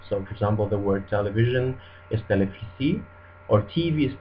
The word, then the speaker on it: televisi: V is pronounced just like F in Indonesian, and actually Indonesian doesn't have this V sound. It's always replaced with an F. So for example, the word television is televisi, or TV is TV.